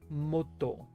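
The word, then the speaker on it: 本: So actually h can be pronounced another way which is moto.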